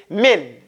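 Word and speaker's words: من: pronounce Min incorrectly it's Min Min a lot of people do it real thick it's it's you have to make it kind of thin okay okay the next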